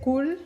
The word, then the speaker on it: 꿀: 꿀. Is that how you say it? 꿀?